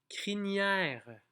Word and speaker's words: crinière: C'est juste qu'il ne faut pas dire crinière avec un GN, c'est vraiment un N.